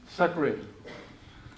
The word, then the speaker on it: Zachary: Zachary, you drew us through the case with Google.